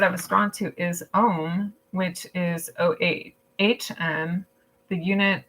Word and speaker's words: ohm: Your bibliomancy word I was drawn to is ohm, which is OHM, the unit of electrical resistance. It's pronounced the same as ohm, which is our chants